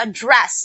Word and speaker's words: address: i would like to address my concern to your manager address address so this the the in the second sentence the second syllable was stressed so that means it is a verb so if this is